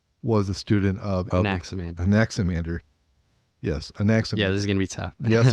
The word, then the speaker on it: Anaximander: as it were okay the emphasis is on the second symbol anaximander and then anemones is